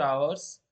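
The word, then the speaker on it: hour: देखिए यहाँ पर जो ये जो एच है, इस एच का साइलेंट रखना जरूरी है। और यहाँ से आवाज निकल जाएगी ओ से, तो ये बन जाएगा आवर।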